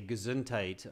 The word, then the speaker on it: Gesundheit: Okay, so yeah, just Ava, just remember the pronunciation is not very Germanic. It's much more English. We just simply say Gesundheit.